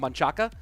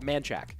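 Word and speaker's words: Manchaca: so for example um there's a road called manchaka but people from locals call it manchac and you know that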